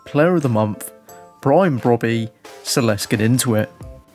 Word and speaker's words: Brobbey: it is an EREDIVISIE Saudi League hybrid with Brobbey up at left striker. Now, I definitely know that is how you pronounce it.